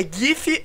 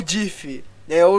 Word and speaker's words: GIF: É GIF ou DIF? O errado é DIF.